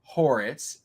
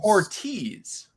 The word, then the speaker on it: Ortiz: It's not pronounced Horitz, it's Ortiz.